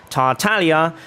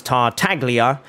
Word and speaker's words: Tartaglia: it's German for Clover tartalia gets pronounced as tartaglia even though it's an Italian name from Italian theater in fact all of